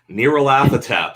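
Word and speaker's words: Nyarlathotep: talking about we were talking about nerolathatep okay that's how you're supposed to say it okay so that if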